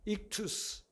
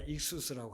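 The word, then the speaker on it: ἰχθύς: 그래서 그 물고기 그 그림이 물고기가 헬라어로 익투스, 뭐 발음에 따라 익수스라고 하기도 하는데 그냥 편하게 익투스라고 그렇게 되어 있어요.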